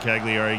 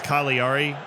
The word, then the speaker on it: Cagliari: very wrong and uh apparently it's kaliari or like it's a silent G people were commenting I